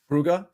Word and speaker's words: Brugge: And how do we pronounce the BRUGGE one? Brugge? Brugge, yeah.